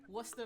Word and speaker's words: Worcester: Come Pronounce on. that shit. Worcester, Mass.